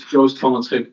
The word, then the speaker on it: Joost van Schip: So the correct pronunciation of the name is Joost van Schip, but it's really just a mess for anyone who is non-Dutch.